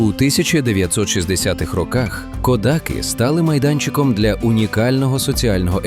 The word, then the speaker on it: Кодаки: З наголосом на останній склад ви знайдете його в довідниках. Але тут, на місці для всіх, хто тут живе, це село завжди було і є кодаки. Ця маленька різниця у наголосі лише перша загадка цього місця.